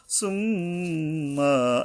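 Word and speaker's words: ثُمَّ: সুম্মা, এই যে মিমের উপরে গুণনা করতে হবে, গুণনা করা কিন্তু ওয়াজিব। সুম্মা কাল্লা, কাল্লার উপরে একালিপ টানতে হবে।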